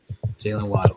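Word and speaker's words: Jaylen Waddle: I think this is a really good trade for the Dolphins because Jalen Waddle. Did I say his name right? Jalen Waddle, yes.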